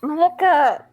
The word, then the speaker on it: Maka: It's not Maki. It's Maka.